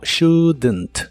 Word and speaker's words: shouldn't: en esta contracción shouldn't se pronuncia como shouldn't no se pronuncia la o ni la l de esta palabra pero sí le agregas un sonido e muy suave entre la d y la n para que se pueda pueda pronunciar mejor shouldn't shouldn't este auxiliar de